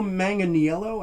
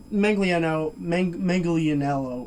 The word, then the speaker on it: Manganiello: And Joe Manganiello, I believe it's pronounced, as Full Metal Mickey.